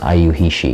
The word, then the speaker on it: YIUHISHI: Actually, we used to be called Graphic Warehouse, but now we're thinking of calling ourselves IU He She. Can you spell that?